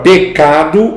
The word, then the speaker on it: pecado: A palavra pecado é uma paroxítona, não é pecador, não é pecado. Pecado.